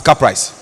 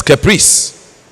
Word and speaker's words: caprice: student from this constituency to pronounce the word c-a-p-r i see as car price when it is caprice because if you don't